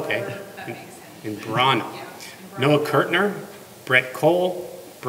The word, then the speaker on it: Imbrogno: Vincent, Foster Imbrogno, and how do you pronounce it? Imbrano. That's my cousin's son. Oh, good. That's your what? My cousin's son. So okay. Imbrano.